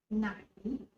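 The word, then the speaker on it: ไหน: word which one which which in time is pronounced nine in a rising tone so now plus classifier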